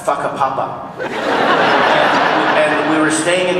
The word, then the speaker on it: Whakapapa: F-A, I can't remember how you spell it, but it's pronounced Whakapapa.